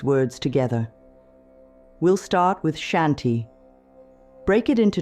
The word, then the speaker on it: Shanti: The N should hum a little in your nose. Try it now. Shanti. Feel how it naturally calms your breathing? That's how you know you're saying it right.